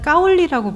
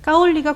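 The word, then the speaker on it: 高麗: 조선을 굉장히 오랫동안 민간에서는 까올리라고 불렀습니다 까울리가 고려의 중국식 발음이에요 지금도 한국 사람 욕할 때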